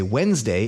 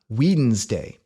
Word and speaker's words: Wednesday: name should be Whedon why do we say Wednesday and not whedon's day well the answer to that is trisyllabic laxing in Old English this was a three-syllable word pronounced and actually so was